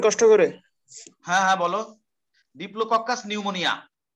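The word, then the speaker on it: Diplococcus pneumoniae: ডিপ্লোককাস নিউমোনিয়া, পি এর উচ্চারণ হবে না, ই এর উচ্চারণ হবে না, ডিপ্লোককাস নিউমোনিয়া।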